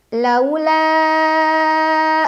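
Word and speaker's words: لولا: Laula an tadarakahu ni'matum mir rabbihi lanubidha bil 'ara'i wa huwa madhmum. Lau. Ada huruf lin atau harf lin karena ada waw sukun sebelumnya fathah, dibacanya cukup dilunakan saja.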